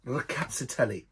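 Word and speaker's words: Rkatsiteli: And this used to be a straight Rakatsiteli. Yes, I said that. Rakatsiteli. If I show you how that's spelled.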